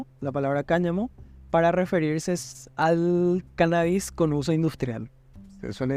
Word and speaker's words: cannabis: La palabra cannabis, con acento en la A, la primera A, no solo se emplea